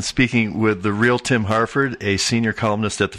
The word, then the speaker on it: Harford: I guess the only other thing to mention is Harford is spelled Harford, not Hartford. I'm not a town in Connecticut.